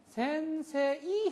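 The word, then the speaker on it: 先生: 장음으로 길게 해 줘야 됩니다. 센세이 이렇게 하 센세이 오하요구자이마스 이게 아니고이 발음을 없애요. 센세에 세의 에에 센세 2로 표기를 하지만은 새 세 2의요 이음이 장음으로 요만큼 길이기만큼 더 해 주는 것뿐입니다. 요음 플러스 그래서 센세 이렇게 되는 겁니다.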